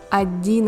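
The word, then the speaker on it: одиннадцать: The ending sat comes from the old short form of the word 10, which means 10. Note, the D letter is silent. 11, 11.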